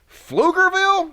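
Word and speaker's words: Pflugerville: a joint event and flugerville is that how you pronounce that is the p silent there's too many uh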